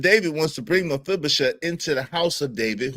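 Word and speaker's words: Mephibosheth: It's not spelled like it sounds.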